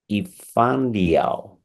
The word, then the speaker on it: Yifan: Renown thinker Victor Wallace whose name is eano I'm sure I'm butchering it because my Chinese is not reliable yeah no you pronounced my name correctly like perfectly thank you you're so